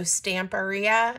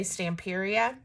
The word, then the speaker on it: Stamperia: always said um that that company's name is pronounced like Pizzeria so stamperia and I used to say stamperia I think I'm saying